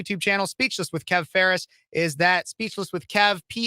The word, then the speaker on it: Phares: Speechless with Kev, Phares is the last name. I know it might sound like Ferris wheel, and it does sound like it, but it's not spelled like it.